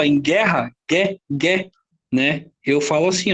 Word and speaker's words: guerra: não me dá um dinheiro quando eu não pronunciar a letra O aqui ó em guerra quer né eu falo assim ó guerra Vai